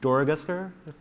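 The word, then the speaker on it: Dorogusker: I think it's pretty obviously that's the brainchild of Jesse Doroguster. That's actually quite good pronunciation. That name is not easy.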